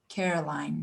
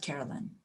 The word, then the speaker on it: Caroline: Side note, the board member's name is pronounced Caroline, not Carolyn.